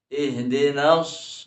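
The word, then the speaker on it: اهْدِنَا: Harus ditekankan ihdinas, ya. Ihdinas siratal mustaqim. Ya. Jadi harus ada penekanan ketika membaca Al-Fatihah yang ada tasydidnya.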